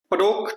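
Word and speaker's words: Padauk: पडोक tree पे लगने वाला फ्लावर होता है। इसको कई जगह पे पडक भी प्रोनाउंसिएट किया जाता है।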